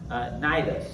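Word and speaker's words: Cnidus: Verse 7, we made slow headway for many days and had difficulty arriving off, and that's pronounced Nidus.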